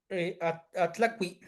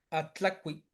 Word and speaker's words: Atlacui: Atlacui. Atlacui. Black. Atla de atl. También esta es una aglutinación de atl y cui. Atlacui.